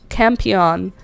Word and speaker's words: Campion: Campion. Rose Campion. I don't know how it's spelled. It's camp and then io n like champion but with no ch.